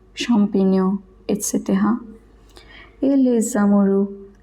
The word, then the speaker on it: champignon: GN is always pronounced as nia. For example, montagna, compagnia, champignon, champignon, et cetera.